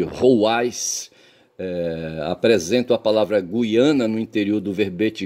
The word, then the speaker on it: Guiana: Gui por conseguinte, no Brasil deve-se pronunciar guiana com o ditongo ui, tá certo?